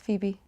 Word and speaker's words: Phoebe: and ones this woman how do you say this name for webby oh phoebe phoebe yeah it's phoebe really that's how you spell phoebe i always thought it was like faux webb no it's phoebe i